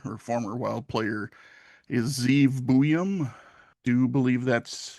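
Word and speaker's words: Ze'ev: But like with Lezak, it is being pronounced a certain way, and it's usually being pronounced Zeev.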